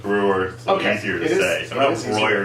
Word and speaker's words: Breuer: in the 1800s and his name is BRE yu-er if I was in Bavaria and I met someone with that name I would pronounce it brighter okay but since you went importantly he may have anglicized it and he may have been known as Breuer every will stick with Breuer okay today that was